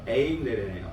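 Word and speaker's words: εἰρήνη: 에이레네요. 에이레네.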